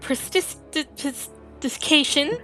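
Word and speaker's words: prestidigitation: Prestidication. That's how you say it.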